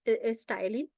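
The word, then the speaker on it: ptyalin: Okay, the another name for is stylin. P is silent stylin.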